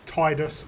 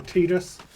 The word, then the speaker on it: Tidus: Uh, and in different versions of other media, he's pronounced Titus or Tedus. I've always pronounced it as Tedus.